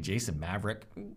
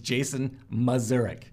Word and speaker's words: Jason Mazurek: And again, I will pronounce it for you because someone did a video and they called me Jason Maverick. Whatever, okay, cool, I'm a Maverick. I text my daughter, I'm like, apparently we've been saying her name wrong this whole time. We're the Mavericks, not the Mazureks. It's Jason Mazurek.